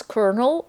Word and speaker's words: colonel: Why do you pronounce Colonel with an R in there, but there's no R when you write it?